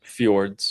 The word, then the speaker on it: fjords: How did you pronounce that? Fjords to Yes.